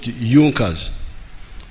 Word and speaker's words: Junker: It is written Junkers, but they pronounce it Junkers, that saw the importance of a united German market.